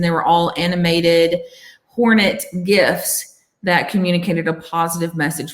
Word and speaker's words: GIF: or gif gif gif i say gif but that's only because i say it correctly right so um we